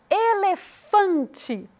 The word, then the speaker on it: elefante: Elefante, fã é o que a gente pronuncia com mais ênfase.